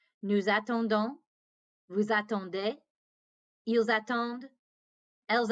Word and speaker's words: attendent: Ils attendent. Elles attendent. And again, don't pronounce that ENT.